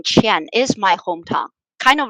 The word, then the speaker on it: Qian: Qian pronounced exactly the same as money in China.